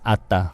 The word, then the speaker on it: ADDA: Called ADDA, but in Korean you can pronounce Atta.